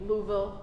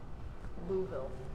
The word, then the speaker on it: Louisville: I mean Louisville. You're supposed to say it like fast or they make fun of you. Is that right? Yeah. Louisville.